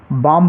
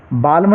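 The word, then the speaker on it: balm: हम वॉक पढ़ेंगे walk B ए एल एम इसको हम बाम पढ़ेंगे बालम नहीं पढ़ना है बाम चलिए अगला नियम है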